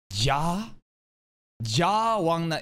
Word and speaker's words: Ja Wangnan: Ja Wangnan in Korean. Basically, you have three syllables, and the first syllable that you hear, Ja, is the surname, as the last name. And you could see Wangnan as like the first name, kind of.